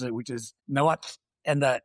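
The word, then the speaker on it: Nahuatl: pronounced it, which is Noat. And the the TL makes us sound like a bus coming to a stop.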